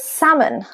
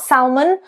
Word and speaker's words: salmon: Another very good example is salmon. Salmon, it's not salmon or salmone as it would be in Italian, but salmon.